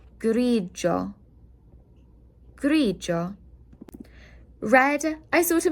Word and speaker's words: grigio: G-I-O will sound like a Joe. So this is grigio.